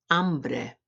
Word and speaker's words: hambre: Hambre, hambre.